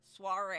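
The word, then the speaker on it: soirée: So Swish and Stitch, soiree. Okay. Okay. Which have fun. If like me, you have a bit of a lisp. Sorry. Soiree is how you pronounce it.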